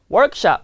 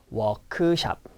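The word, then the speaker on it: 워크숍: Workshop however the r pronunciation does not really exist in Korea so it's not work shop no it's walk shop walk shop so I'm going to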